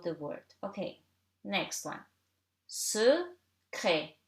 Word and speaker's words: secret: Secret. Here you have CR, two consonant, and in the middle of the word, so you read it like E.